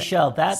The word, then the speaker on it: Seychelles: Tim had to tell me how to pronounce it. Seychelles.